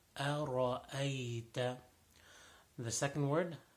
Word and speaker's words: أرأيت: So make sure the ra is full mouth. أرأيت.